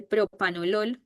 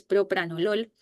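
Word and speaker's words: propranolol: Todavía la población habla mal del propranol, dice propanol y es propranol.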